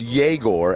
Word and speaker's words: Egor: They lost to the Nets last night, who started some dude named Igor. Google told me it's pronounced Yegor and not Igor, even though it's spelled E-G-O-R.